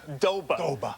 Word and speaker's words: Doba: Well, of he course, just likes to say like it's 2 syllables. Doba.